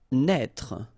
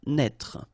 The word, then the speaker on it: naître: Naître. Okay, same thing here for the circonflex. Write it, but don't pronounce it. Naître.